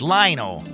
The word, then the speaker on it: Lionel: It's Lionel. Like Lionel Richie.